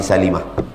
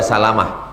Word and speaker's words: Salimah: Min bani Salimah. Jangan baca Salamah. Min bani Salimah. Ada memang Salamah. Abu Salamah, Ummu Salamah. Tapi yang ini Bani Salimah.